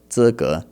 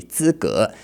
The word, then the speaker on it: 资格: He just pronounced that a little bit wrong. 资格. I don't know why he pronounced it like that, but 资格 should be 资格.